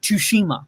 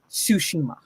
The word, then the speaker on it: Tsushima: Well, he pronounces the T whenever he speaks quickly, so he's like Tsushima, and I'm like, no, it's Tsushima.